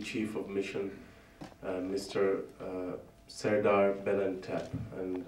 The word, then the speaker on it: Belentep: Serdar Belentep, and I'm told that's the perfect pronunciation.